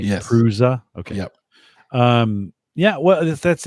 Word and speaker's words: Prusa: Prusa, that's how you pronounce it, right? Yes. Prusa.